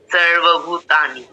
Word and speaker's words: সর্বভূতানি: এটা দীর্ঘ উচ্চারণ হবে এরপর সর্বভূতানি মিন্স এখানে ভ এর সাথে দীর্ঘ আছে তাই জন্য এটা দীর্ঘ উচ্চারণ হবে এরপর তা এর সাথে